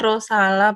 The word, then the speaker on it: Rosala: Silahkan ibu rosal rosella Rossi untuk bertanya langsung kepada user sama alaikum Ustadz faalaikum build Waalaikumsalam warahmatullah wabarakatuh mohon maaf ralat sedikit Nama saya rosala bukan Ross Maaf Ibu Atas pengucapan